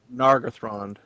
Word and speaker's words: Nargothrond: And then Goth, as in Gothic. Oh, Nargothrond. And then Rond, from Elrond, I guess.